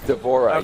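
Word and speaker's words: D'Vorah: davor to do is it how do you pronounce her name devorah is that right devorah yes so what's the swarm queen very she's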